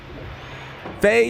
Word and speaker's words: Faye: Faye rhymes with Ray.